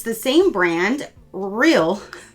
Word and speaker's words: Real Barrier: Next we have, it's the same brand, Real, not Rear. Say it right this time.